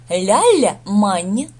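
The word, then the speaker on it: l'Allemagne: Ля-ля-мань. Ля-ля-мань. Сочетание Г и Н здесь читается как Н, мягкое Н.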